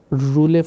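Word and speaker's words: rouleaux: That is roulet. Roulet mein X is silent. We should always keep our X silent.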